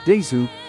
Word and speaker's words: です: The Dover demon pronounces des as desu, but to Japanese ears, it sounds more like です。 with the e vowel being elongated between de and su.